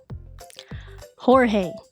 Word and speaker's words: George: Jorge. But his name is George, but you pronounce it Jorge.